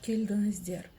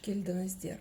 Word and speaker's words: келдіңіздер: Слово келдіңіздер мягкое, потому что везде стоят мягкие гласные буквы.